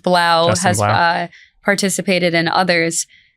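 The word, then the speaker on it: 3LAU: The DJ Three Three Lao, which is pronounced Blau, has uh participated in others.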